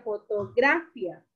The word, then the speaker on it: fotografía: Si fuera la gra, diría fotografía. ¿Y la palabra es fotografía o fotografía? La fo. A ver, escucha, Carlos. Fotografía. ¿Dónde hay la mayor fuerza de voz? La fi.